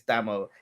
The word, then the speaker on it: Damo: It's spelt Damo, but it's Damo.